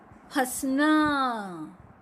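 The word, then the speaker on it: फँसना: जैसे ही चंद्र बिंदु लगा तो उसका उच्चारण क्या हो गया? फ। अगर चंद्र बिंदु नहीं होता तो फ होता, लेकिन चंद्र बिंदु लगते ही फंसना।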